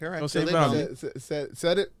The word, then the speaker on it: Josue Velney: Josue Velney, right? Correct. Josue Velney. Said it right.